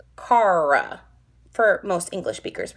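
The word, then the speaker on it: cara: pronounce our r's um you put the r at the tip of your tongue so my tip is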